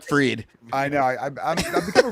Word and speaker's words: Fried: freed fre we got looks like Fred sounds like freed I know I've become